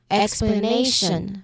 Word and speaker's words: explanation: So in explanation the syllables are explanation. We hear the stress on a then not on lion.